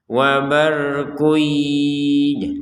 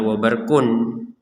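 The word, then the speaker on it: وَبَرْقٌ: Wabarkuy, jadi jangan dibaca wabarkun, atau dibacanya wabarkuy tapi tidak ada dengungan, itu ya tidak sempurna.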